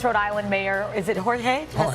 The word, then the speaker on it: Jorge: Providence, Rhode Island Mayor, is it Jorge?